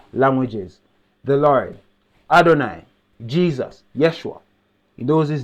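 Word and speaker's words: ישוע: So the name Jesus from Hebrew is pronounced Yeshua.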